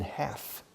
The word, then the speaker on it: half: that is more than half. Más que la mitad, more than half. Fijaos, la L de half we don't pronounce. Half. The Brits say half. But still, the British usually don't say the L, okay?